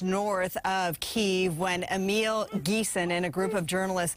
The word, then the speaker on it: Ghessen: Am I pronouncing your last name right? Pretty good, Ghessen.